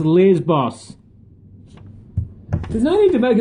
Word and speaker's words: Lesbos: Lesbos. It's pronounced Lesbos.